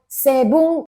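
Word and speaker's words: セブン: Ini 7-Eleven dibacanya Sebung. Kata artinya 711.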